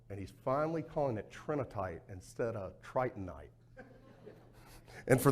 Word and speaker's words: trinitite: this stuff, you're like, tritonite, no, it's trinitite. You did. No, I cheered you, Randall. You did correct him. He didn't just pop up saying it right. You got him right. So it's trinitite.